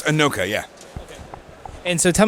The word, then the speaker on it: Inoka: And so over here we're at Inoka, and is it pronounced Inoka? Yeah. So it's Inoka, yeah.